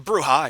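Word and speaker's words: Brujah: So, the Bruha, and yes, it's pronounced bruha with a Spanish accent type thing.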